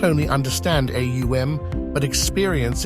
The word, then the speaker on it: AUM: with all that is AUM consists of three distinct syllables a u and M each with its own